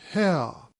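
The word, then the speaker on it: Haigha: happy his name is hell he pronounced it so as to rhyme with mayor I love my love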